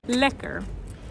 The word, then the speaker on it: lekker: Lekker. And you spell it L I K K R IR, lekker.